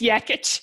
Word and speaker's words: Jekic: It's Jekic, but spelled with a J.